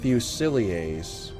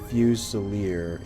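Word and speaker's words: fusilier: FF tactics Advance okay it's pronounced fusilia French or fusier English they're basically Rifleman okay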